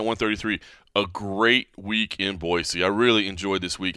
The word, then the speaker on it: Boise: to you from Boise see I've learned to say it right Boise Idaho side of UFC